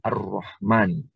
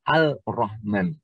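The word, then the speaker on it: الرحمن: Kalau ARR berarti kan Ar-Rahman, gitu ya. Kalau dikasih lam jadi Al-Rahman. Padahal dalam tulisan harus ada alif lamnya, sedangkan dalam pengucapan lam tidak perlu dibaca.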